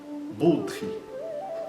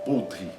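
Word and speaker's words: बुद्धि: Outro exemplo, budri. Budre, tanto quanto isso são curtos.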